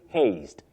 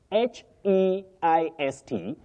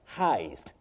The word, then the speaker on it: heist: then heist for robbery don't say haste h e i s t you pronounce that word for robbery as heist heist not haste you say contilious your words are a bit bigious Not melas contius.